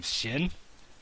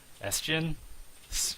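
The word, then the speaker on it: Sjin: to mispronounce his name, Shin? S-Jin? I think it's like, the S is halfway silent. It's Jin, something like that.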